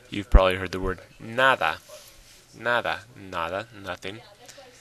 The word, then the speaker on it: nada: Nada, where's the stress? Nada or nada. Well, of course it's nada. So yes, like I said, if it ends in a vowel, it's on the next to last syllable.